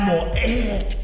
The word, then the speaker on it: morrer: You don't even pronounce the R. Vai morrer. That's morrer. Morrer. No, you're saying like a Spanish. Two R's. This is Portuguese.